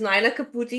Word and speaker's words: Nyna Caputi: about you sure so my name uh is Naina caputi you did pronounce it correctly uh I am originally